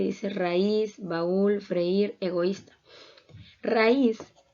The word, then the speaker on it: raíz: raíz baúl freír egoísta raíz palabra de dos sílabas su sílaba tónica se encuentra en la última sílaba por lo tanto es